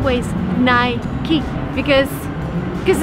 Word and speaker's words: Nike: Who's got Nike shoes? The correct way to pronounce this brand name is Nike, but that's very American. If you travel abroad, people would say Nike, but the right way is Nike.